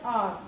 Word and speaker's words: hour: So although it is the alphabet H, it is a consonant, but H is silent here. So if we keep the word H silent here, so R, it is pronounced as R, O-U-R.